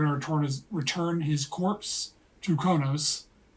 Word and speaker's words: Qo'noS: return his corpse to Kronos, right? Kronos. Kronos. I thought isn't let you pronounce it a certain way. People with always the- pronounce it Kronos, Kronos. but it's spelled Qonos.